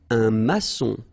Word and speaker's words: maçon: Un maçon. Here you can see that we've got this little cédille beneath the C, okay? And it just means that you will pronounce this C as S, okay? So that's the reason why. It's un maçon. Son, okay? O-N in your nose, nasal, un maçon, all right?